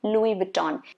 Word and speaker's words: Louis Vuitton: So Louis Vuitton.